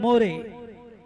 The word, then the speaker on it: More: And Karan More will get more runs. His surname itself is More, and in English, if you pronounce it, it's more.